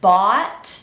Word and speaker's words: bought: So even though it's spelled with a lot of different letters, this is pronounced b-a-t, bought. But because I have an American accent, I'm not going to pronounce t, bought, but I'm gonna use a glottal stop and say bought.